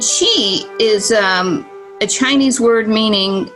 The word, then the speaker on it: qi: are familiar with and that's called Qi which is spelled Qi and she is a Chinese word